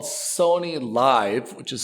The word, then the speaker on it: Liv: And they own something called Sony Live, which is spelled Liv, which makes me think of the Saudi Gulf League.